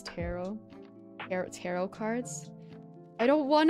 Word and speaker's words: tarot: I know all righty I pronounce tarot like carrot terrot carrot oh that's